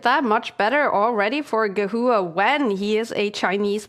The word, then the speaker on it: Gehua: This is a very nice move by Gehua, if that's how you pronounce it. Gehua, yeah.